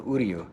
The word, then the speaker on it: Uryu: We had a lot of fun in the beginning because Uryu sounds like who are you? So, you know, I'd say, you know, how do you pronounce it? And they go, Uryu.